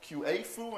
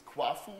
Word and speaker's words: Quafu: No, it's not QA-fu and it's not Kafu, it's Quafu we like to pronounce it.